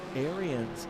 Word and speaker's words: Arians: Arians is pronounced similar to Aaron's.